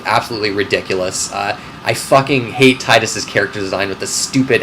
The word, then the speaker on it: Titus: A lot has been said about Titus, or Titus. I think Titus, that's how you pronounce his name.